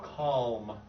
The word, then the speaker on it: calm: Yeah, by the way, you have really good L's, but you're not saying it right here. So, calm.